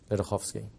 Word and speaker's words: Ledochowski: the name is lovsky the easiest way to pronounce it is if you take the C out in the middle and change the W for an F that will phonetically work better for you guys lovsky you're very welcome